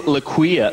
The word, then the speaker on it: Laquefa: Her name tag says L-A-Q-U-E-F-A. I was like, Laquefa. No, what an interesting name. She throws down the plate. She's like, uh-uh, it's Laquia. The F is silent.